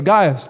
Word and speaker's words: Gaius: you but Crispus and Gaius or Gaius depending what way you want to pronounce it and he's basically saying